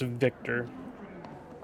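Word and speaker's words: Wiktor: Spelled with a W, but spelled or pronounced Victor.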